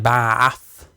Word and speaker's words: Bath: It's kind of a mixture of both. So it's like Bath. That's how you say it.